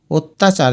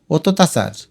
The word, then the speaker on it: অত্যাচার: লিখবে অত্যাচার অর্থাৎ এইযে তজফল আকারকে দুইবার ত লিখে এটাকে তোমার মুখে যেভাবে ঠোটে উচ্চারণ করতে আরম্ভয় সেভাবে লিখবে অত্যাচার হসন্তগুলো না দিলে উচ্চারণটা হবে অততাচার এরপর দেখ অনিঃশেষ তো